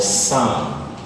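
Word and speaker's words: psalm: This is called SAM. SAM. Watch out, the L is also silent.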